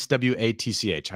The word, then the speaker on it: Swatch: do you say that watch no no s SW a TC how do you say that yes it's Swatch Swatch yeah you just totally dated Yourself by